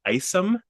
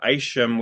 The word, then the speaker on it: Isham: think Bruce said that Monday's first name is pronounced Isom, Isom, yes. Yeah, I did. which Yes. I said Isham with like a sh sound for years, and then I